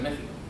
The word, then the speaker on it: México: con lo cual con esta regla de la Real Academia Española México con x pasa a llamarse México todos lo recordarán verdad